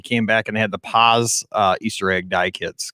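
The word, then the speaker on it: Paas: store and they came back and had the paws uh easter egg dye kits because you know the old school p-a-a-s i pronounce it but i've had this ever since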